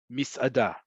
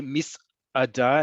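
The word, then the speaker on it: מסעדה: regards to pronunciation, that the word for a restaurant is misada, right? If you can't say misada and have that little break there, just you can pronounce it a little bit more eliding, misada. Okay, misada, misada, however you want to pronounce it, but that's how you pronounce it.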